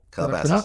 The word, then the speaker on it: Calabasas: Well, yeah, if you'd have put me in Calabasas, I said it right? Calabasas.